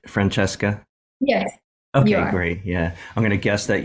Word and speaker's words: Francesca: yeah very cool very cool uh we are pronouncing your name right Franchesca yes okay great yeah I'm GNA guess that